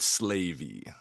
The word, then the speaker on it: Slavey: As Slavey, I always pronounce it Slavy in my head when Everyone pronounces it differently, but we'll go with Slavey.